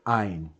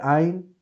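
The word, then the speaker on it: עין: E here, I'm sorry, I cannot pronounce this sound because it's a glottal sound that Latin American speakers we don't have, and I guess that I'm never gonna be able to pronounce this sound. I can try to fake it, but it's gonna sound something like "oh," okay, like a sound that you make with your throat.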